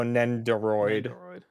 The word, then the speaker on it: Nendoroid: do you say this is n-e-n-d-o-r-o-i-d but oh nenderoid although yours makes more sense than android i